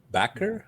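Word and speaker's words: Bakker: Scott Baker. Is it Backer or Baker? Backer, I believe. Backer, I think. Yeah. Okay. B-A-K-K-E-R. I've been mispronouncing it all this time.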